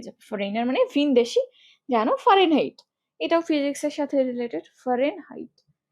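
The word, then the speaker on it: Fahrenheit: উচ্চারণ তুমি এভাবে করো, ফারেনহাইট, ফারেনহাইট। একটুখানি জোরে এইচ এর জন্য শ্বাসটা বের করে দাও, ফারেনহাইট, ফারেনহাইট।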